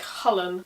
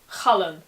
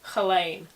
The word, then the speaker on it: Chulainn: Now you'll notice that with this name, as with many others, where there's more than one syllable, the emphasis is on the first syllable. Cullen, not Chalain.